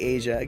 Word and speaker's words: Aja: Okay, I am joking because it's spelled like Aja, but the spelling would be different, but it would be Asia.